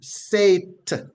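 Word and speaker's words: שְׂאֵת: or Rising those words the root word from which they come is trans iterated from the Hebrew to English as s e e t h and it is pronounced sat s sat meaning an elevation right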